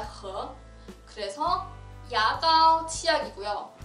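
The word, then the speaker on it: 和: 중국어로는 발음이 허입니다. 허.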